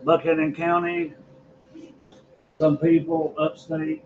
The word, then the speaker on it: Buchanan: We pronounce it Buchanan County. Some people upstate pronounce it Buchanan.